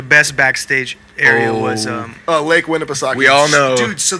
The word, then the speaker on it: Winnipesaukee: How do you pronounce it? Lake Eddie? Winnipesaukee.